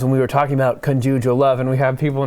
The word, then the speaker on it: conjugal: we were talking about conjugal love, and we have people in the comments saying it's pronounced conjugal. They think that we're just mispronouncing, we're putting the wrong emphasis.